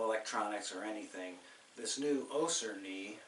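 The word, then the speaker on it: Össur: It's made by a company called Ossur, with two dots above the U. It's an Icelandic company, so I pronounce Ossur.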